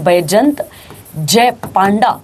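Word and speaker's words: बैजयंत जय पांडा: क्या नाम आता है उनका, बैजंत, अब देख लेना बेटा प्रोनाउंसिएशन, बैजंत जय पांडा उनका नाम आता है।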